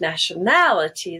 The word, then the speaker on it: nationality: to a similar word nationality the stress will be on the second a the first day is no longer gray it's now just schwa nationality nationality so remember you need